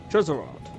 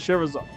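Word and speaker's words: Scherazard: Cheserard. Why did you make names so impossible to Sherazard. That you pronounce it Sherazard.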